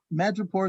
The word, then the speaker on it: Madripoor: Madripoor is the correct pronunciation.